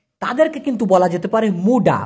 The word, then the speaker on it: muda: তো এই মুডা, মুডা মানে কিন্তু কাঁচা ভাই, MUDA, উচ্চারণটা হলো মুডা, এটার মানে কিন্তু কাঁচা, যেটা এখনো পাকে নাই, হ্যাঁ কাঁচা।